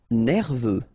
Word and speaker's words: nerveux: Nerveux. Final X not pronounced. E-U, E, V, nerveux.